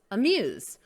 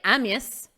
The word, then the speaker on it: amuse: so look at this word amuse amuse we don't say amius no we say amuse amuse the word report